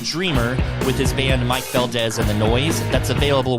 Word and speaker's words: Valdes: yeah it's it's tough it sounds like a z but it's spelled with an s so the the harder